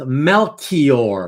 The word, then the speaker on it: Melchior: Somebody told me that Joseph in the UK with the same last name is actually pronounced Melchior. Melchior, like the CH is a hard K.